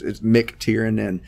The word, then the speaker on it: McTiernan: The O and the I are obviously the 2 big obstacles in my name. I have it phonetically spelled out on the card up front now, so I can. It's McTiernan. Yeah. And but it's the NAN on the end that's getting me instead of just the AN.